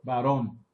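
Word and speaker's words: Barón: Right? Baron, no? Baron. Baron. Baron. Con acento en la O.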